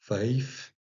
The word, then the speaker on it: wijf: Alors, le I s'écrit, ça se prononce plutôt entre ei et I. Donc, wijf, par exemple.